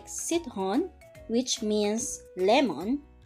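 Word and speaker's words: citron: hon which means lemon it is a soft pronunciation if it is in front of an e i or y so c is pronounced as s okay again sit hon let's listen to the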